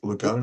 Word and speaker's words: Lecuona: Is that the I pronounce that one right, Kevvy? Lecuona.